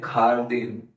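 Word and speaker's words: jardín: खारदी जय को क्या प्रोनाउंस करते हैं? तो वर्ड बना है खारदीन।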